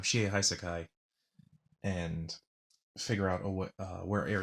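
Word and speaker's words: Shie Hassaikai: works the he I the Shia hai Sakai I guess said it wrong the first time she hai Sakai and figure out what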